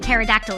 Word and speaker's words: pterodactyl: The P in pterodactyl is silent, so shut up, skank.